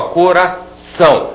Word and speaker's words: coração: não é então ó coração a última sílaba é mais forte do que as outras eu digo que esta